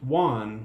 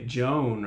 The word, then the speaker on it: Joan: that to be pronounced Juan, would you? But he's from Spain. Looks like yeah. John. Looks almost like you'd say Joan or Joanne. But in Spanish, that would be pronounced Juan.